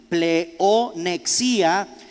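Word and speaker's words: pleonexia: la palabra pleo nexia con pe de papa también y con x león xiii con un acento en la y play o nexia y significa fraude voracidad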